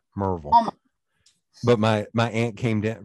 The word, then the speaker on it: Maryville: Pronounce this one for me. Marville. Marvel. You almost got it right. Marvel.